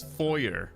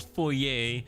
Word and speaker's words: foyer: Okay, I know I know how to say it. It's foyer. It's not foyer. All right, that's your wacky Canadian French sensibilities. It's a foyer, not foyer.